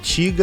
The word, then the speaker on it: Tyga: Daí ele fala Tiga, né, que é como se escreve a palavra para poder rimar com nigga, que é a palavra que ele usa em cima.